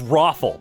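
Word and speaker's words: ROFL: R-O-F-L. Oh, thank you so much. It's Roffle. It's Roffle, you idiot.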